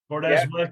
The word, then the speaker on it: Burdess: as as usually the way it goes bordes am I pronouncing that right you are yeah bordes welcome to the Irish hunting podcast how